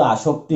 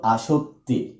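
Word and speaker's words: আসত্তি: হ্যাঁ, এটাকে অনেকে কিন্তু আসক্তি বলে, আসক্তি না, এটা কিন্তু আসক্তি। উচ্চারণটা ভালো করে দেখবা। হ্যাঁ, আসক্তি আর আসক্তি এক কথা নয়।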